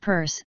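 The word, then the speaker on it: Peirce: test no zero eight Charles Sanders Pierce pronounced purse the founder of pragmatism America's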